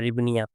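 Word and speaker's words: гривня: English में आप लोग देख लेंगे, एच इसमें साइलेंट होता है, तो ये रिबनिया कहा जाता है, रिबनिया।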